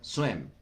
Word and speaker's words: swim: Se pronuncia swim. Casi, Wendy. Omite la G. Casi, Ixel. Omite la G. Swing es esto. Swing. Por eso cuando uno baila tiene swing. ¿Ven? Con M.